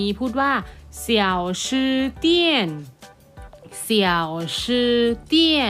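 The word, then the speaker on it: 家: คะ อ้า บ้าน ใน ภาษา จีน ออก เสียง เจีย เจีย เจีย แปล ว่า บ้าน ใช่ ไหม คะ เจีย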